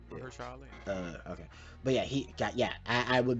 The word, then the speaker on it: Mahershala Ali: Um, God, I always mispronounce his name. Uh, Yeah, it, you got it right. it, Mahershala Ali.